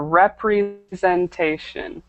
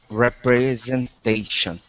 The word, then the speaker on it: representation: very good um just make sure you pronounce all the syllables in this word right here representation okay representation perfect okay everything else